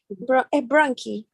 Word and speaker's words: bronchi: The pronunciation of bronchi. Yes, bronchi. Bronchi with key.